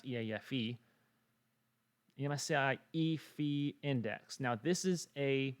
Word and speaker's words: EAFE: it's based on this right here the msci efi that's how we pronounce eafe msi e fee index now this is a what we call